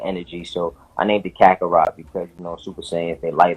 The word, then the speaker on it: Kakarot: Kakarit. Oh, Help me out here. Kakarot.